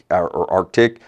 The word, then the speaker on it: Aretec: Yeah, and I think you look at the name when people are sort of, some people have pronounced Aretec or Arctic, which is fine too, right?